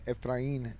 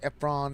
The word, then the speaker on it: Efrain: He couldn't pronounce my name, Ephrain. So every time he was like, Ephron, Ephrion, E.